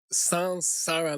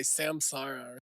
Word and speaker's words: saṃsāra: First of all, the correct pronunciation is "sansara," like "S-A-N" not "S-A-M". You hear a lot of people say "samsara."